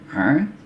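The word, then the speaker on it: ع: Yang sekali lagi, a, gha. Dengar baik-baik ya, a. Agak lebih ditekan suaranya, a. Ini juga sering orang salah dalam pengucapan ketika membaca Al-Quran.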